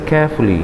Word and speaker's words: careful: So 2 syllables, not 3 syllables.